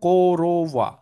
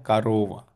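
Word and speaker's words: корова: Nah, yang kedua tulisannya korowa. Korowa tapi bacanya karowa. Karova. Kenapa? Karena huruf O yang pertama tidak ada ee tidak ada apa namanya? Udarinya. Huruf O. Yang kedua ada udarinya yang ee seperti yang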